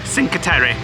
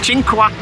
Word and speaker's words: Cinque: journey to something called do you know how to pronounce it Sinker no chinker chinqua um which is actually